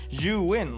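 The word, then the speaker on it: Zhiyun: for that and my juin crane shout-out to potato jet for saying juin if you didn't get the memo that is how you pronounce it you win like like you win now one of the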